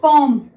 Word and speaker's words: comb: Next देखिए कॉम, वैसे तो इसकी स्पेलिंग है COMB, ठीक है, लेकिन जब हम इसको पढ़ेंगे तो क्या लगेगा हमें कॉम, यानी कि इसमें बी साइलेंट है, ठीक है।